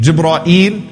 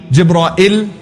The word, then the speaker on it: Jibreel: of gibreel eyes nam what are some of the ways to pronounce his name Ghibli jibra eel Gibran ill jibra eel Jeanine those are five ways that have been narrated through the various clocks all right debris jibra